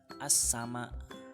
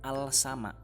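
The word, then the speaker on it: السماء: Bacanya as-sama. As-sama, bukan al-sama. Alnya hilang, ya. Jadi bacanya as-sama.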